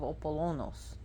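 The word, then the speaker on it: Ἀπόλλωνος: She is the twin sister, but usually older sister of Apollonos. That's how you pronounce his name in Greek, and people call him Apollyon, and the Roman pronunciation is Apollo.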